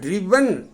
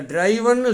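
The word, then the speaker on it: driven: டிரைவ் word எண் சேர்ந்து உச்சரிப்பு பாருங்க டிரிவன் அதை டிரைவன்னு சொல்லக்கூடாது எச்சரிக்கையா இருக்கணும் டிரைவ் ட்ரோ டிரிவன் இதுக்கு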